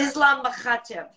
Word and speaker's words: Makhachev: Islam Makhachev. Oh, here we go. You didn't have to put that much ha into it. That's how you say his name.